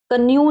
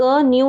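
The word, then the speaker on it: knew: ये देखिए न्यू, कन्यू नहीं, क न्यू नहीं, न्यू, क्योंकि एन से पहले के है तो न्यू, न्यू मीन्स जानना।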